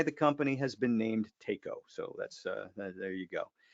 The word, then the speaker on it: Taco: of a taco so it never occurred to anybody to pronounce it taco it was take oh so that's how the